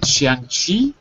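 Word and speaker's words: 象棋: Chinese chess in Chinese is it shangi is that right yes you are right it was play sh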